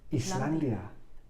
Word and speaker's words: island: Islandia. Iceland, Islandia. ¿Y isla? Island. Very nice. Con la S muda ahí.